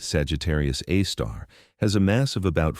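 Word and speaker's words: Sagittarius A*: Our galaxy's central black hole, Sagittarius AI, pronounced Sagittarius A star, has a mass of about 4 million suns.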